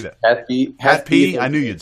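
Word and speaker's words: HAT-P: Hat P.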